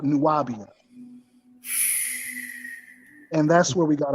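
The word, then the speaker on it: Nuwábiya: B i y a which is which is pronounced nuabia and when they when he asks hey where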